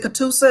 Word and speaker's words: Catoosa: Is it Catoosa? Is that the way it's pronounced?